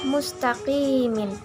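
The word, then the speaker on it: مستقيم: Tulisan aslinya adalah mustaqimin. Karena wakaf, cara membacanya adalah mustaqim.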